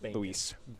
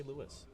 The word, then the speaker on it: Luis: you i'm happy that you pronounce my name right i don't understand louis i'm sorry yeah ty story for one as we're watching this board play through uh every single substitute teacher call me lewis story of my life